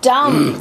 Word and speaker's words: dumb: He's so dumb.